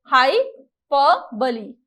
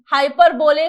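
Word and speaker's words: hyperbole: हाइपर बोले कुछ लोग पढ़ते हैं, कुछ लोग और बोलते हैं, तो हाइपर बोले कोई टर्म नहीं होगा, क्या होगा, करेक्ट प्रोनाउंसिएशन हाइपरबोली होगा, राइट। हाँ भाई, बहुत सारे लोगों की टीचर पढ़ाती है बोले शोले गोले, तो हमको नहीं करना है ना, याद रखना है हाइपरबोली करेक्ट प्रोनाउंसिएशन है।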